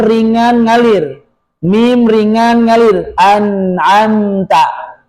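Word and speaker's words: أنعمت: Anamta anamta enggak boleh anamta enggak boleh dilepas enggak boleh memantul enggak boleh juga dihilangkan alirannya. An ab ta enggak boleh an ab ta.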